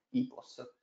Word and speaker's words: EPOS: E William Demant nel gennaio 2020 ha fondato IPOS, scritta EPOS, ma ormai la pronuncia che cerchiamo di far capire a tutti è IPOS, abbiamo modificato, tra parentesi sotto la E c'è la I.